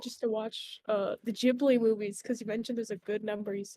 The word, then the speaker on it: Ghibli: the Desert Wind pronounced Gib Lee uh Hayao Miyazaki thought the word was pretty and stole it when naming Studio Kipling he uses the Japanese pronunciation though which is Ghibli so in fact the